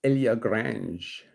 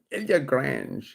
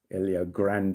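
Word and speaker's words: Ilha Grande: We then went to um we went to this little island called Ilia Grange. Ilia Grange. It's big island or Ilia Grande as probably the English would pronounce it.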